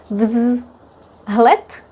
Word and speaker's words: vzlet: All these are pronounced with t at the end. Tlet. And then we say vz in front of it. First let's say it separately. Vzlet vlet vlet vlet v z l vlet.